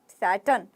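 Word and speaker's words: Saturn: करते हुए टर्न सैटर्न सैटन अब र है लास्ट में तो आप कैसे बोलेगे सैटन सैटन सैटन र को साइलेंट रखना है सैटर्न सैटन सैटन बारबार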